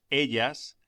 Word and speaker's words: ella: Los pronombres yo, tú, él, ella, nosotros, vosotros, ellos, ellas se omiten generalmente cuando no figuran de un modo enfático en la frase. 4. Ella está. Pronúnciese ella. La elle se pronuncia como doble L en William.